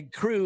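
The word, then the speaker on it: Krewe: food um so anyway crew is spelled k r we and uh so and brew and crew rhyme and I was that's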